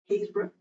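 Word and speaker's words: Happisburgh: But you've also got, the first evidence of humans, so footprints, down in, you'll never guess how this is pronounced if you don't know it, Haysborough.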